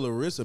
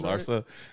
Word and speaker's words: Larsa: But she remind me of Larissa Pippen, kind of. If that's what her name is, Larsa. Right? Larsa Pippen. Gave her like five extra syllables.